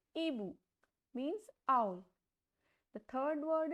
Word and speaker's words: hibou: H is silent, so the pronunciation will be Ebu, means owl.